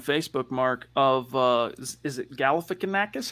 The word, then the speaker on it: Galifianakis: This profile pic that you're rocking now on Facebook, Mark, of is it Galifianakis? How do you say that? Zach Galifianakis? Galifianakis, yeah.